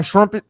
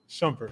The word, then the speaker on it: Shumpert: what how you say it Iman Shumpert Iman shpet Shumpert Shumpert Shumpert you know what I'm saying so